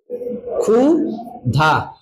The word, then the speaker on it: ক্ষুধা: ভাবে হয় দুই ভাবে যদি আদিতে ক্ষী থাকে কি থাকে আদিতে খিয় থাকে তাহলে তার পরিবর্তে লিখি আমরা খ পরিবর্তে কি লিখবো খ আর যদি মধ্যে বা অন্তে থাকে কি থাকে অন্তে কি ওটা থাকে তাহলে এটার উচ্চারণ হবে ক লিং যোগ খ যেমন ধরেন আমরা একটা উদাহরণ দিলাম একটা দিলাম ক্ষুধা খুধা কি লাগছে ক্ষুধা তাহলে এখানে খিও কি